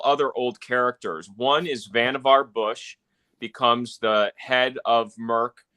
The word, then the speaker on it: Vannevar: So, by the way, you have to say Vannevar because it rhymes with Leave It to Beaver.